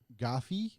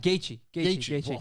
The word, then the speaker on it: Gaethje: I'm going to mispronounce this, but can Gaviv beat Khabib? Oh, Gaethje.